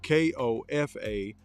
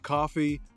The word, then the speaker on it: Kofa: am your host Kofa k-o-f-a not coffee not Khufu not Kofi Kofa Kofa rhymes with sofa it's easy to say